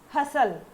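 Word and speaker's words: hustle: अब ये HSLL मत करना, इसका प्रोनाउंसिएशन आता है हसल टाइप का, तो ये हसल मतलब देखो क्या होता है।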